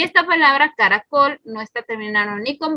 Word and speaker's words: caracol: Por ejemplo, la palabra caracol. Entonces escuchamos claramente que aquí en la última sílaba está la sílaba tónica, pero esta palabra, si se dan cuenta, no se acentúa, perdón.